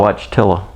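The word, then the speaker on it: Wojtyła: had to look it up wow holy cow watch tiller that's how you pronounce it all right yeah 1973 october 23rd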